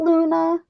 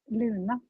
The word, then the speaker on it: Luna: No, it's Luna. Luna? It's spelled the same way, but the pronunciation is a little bit different. So, Luna. It's that emphasis.